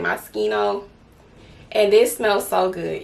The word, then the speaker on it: Moschino: smell good okay so i have my moschino i think that's how you say it moschino and this smells so